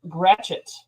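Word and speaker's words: Gratiot: g r a t i o t is pronounced gret wait how you spell it again g r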